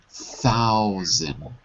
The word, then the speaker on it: thousand: pounds 1,000 pounds ok careful because it's not a t2 th thou thousand all right how then